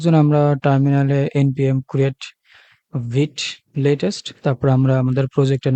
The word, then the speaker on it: Vite: অনেকে ভাইট বলে থাকেন। অনেকে ভিট বলে থাকেন। আসলে উচ্চারণটা ভিট হবে। এটা মূলত একটা ফ্রেঞ্চ শব্দ থেকে এসেছে যার অর্থ হচ্ছে ফাস্ট।